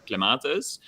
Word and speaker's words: clematis: A lot of people know the company Margenpar by the clematis. Am I pronouncing it right? Yeah. Yeah, clematis, yeah. Clematis. It depends how posh you are.